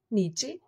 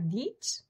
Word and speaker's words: niche: Niche? Yeah, niche? No, it's niche. Niche.